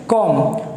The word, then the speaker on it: comb: अगर आप इसे कॉम्ब पढ़ते हैं तो आप गलत पढ़ते हैं, क्योंकि इसमें बी है साइलेंट, तो इसे पढ़ा जाएगा सिर्फ कॉम्ब।